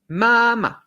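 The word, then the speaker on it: 妈: évidemment sur le chinois le premier caractère ça sera ma on tient la note est le deuxième ça sera ma comme ça sentons tout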